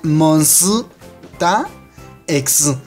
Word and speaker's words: MONSTA X: en coreano se pronuncia monsu ta ex es porque en coreano la s que está en medio del nombre cobra un sonido propio pero como no puede